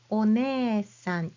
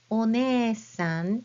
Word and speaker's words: お姉さん: But this is one of those exceptions that you write as you hear it. So, お姉さん, you write it with hiragana e. You don't have to write it with I. お姉さん is spelled as you hear it with hiragana e for that prolonged e sound.